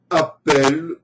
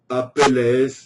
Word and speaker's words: Apelles: de la Grèce antique, qui se nommait Apelle ou Apelles, je ne saurais trop préciser la prononciation de ce nom. Il est parfois écrit avec E2L comme hirondelle sans S, donc je vais l'appeler Appel pour la simplicité, mais Apelles sonne plus grec, un peu comme Périclès.